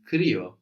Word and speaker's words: κρύο: The word for cold in Greek is kryo, kryo. Κρύο. And that's spelled K, the Greek K. The R sound, which is actually spelled with a P. The letter that looks like a P gives us an R. And then we have the U there. The I sound there is a U.